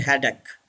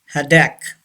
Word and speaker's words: haddock: word stomach hadak yes don't say haddock hadak say this word hadak number seven mountain yes